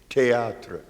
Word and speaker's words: théâtre: the same way, T-H-E-A-T-R-E, théâtre. Théâtre in French. He can't say it, theater. Now, he has a lot of words within it, but they're not stupid enough to pronounce it like we do.